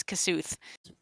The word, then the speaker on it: Kosuth: As you begin praying to Kosuth or Kosoth, I'm not sure 100% how it's pronounced. Somewhere in the Kosoth. Yeah. It's according to this page you sent me quite some time ago. It's Kosuth. Okay.